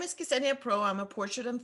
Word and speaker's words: Ksenia: My name is Ksenia.